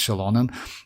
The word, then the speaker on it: Xilonen: I used to pronounce the X in Xilonen. Yeah, that's yeah, we pronounced, by the way, like back then we pronounced that like Xilonen, if you remember, guys, because we didn't know how to pronounce that. But yes, officially it's Xilonen, and yeah, Xiphos is Xiphos.